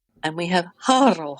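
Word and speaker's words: Harrow: So we have Valja Harkonnen, we have Tuula Harkonnen, and we have Harro Harkonnen.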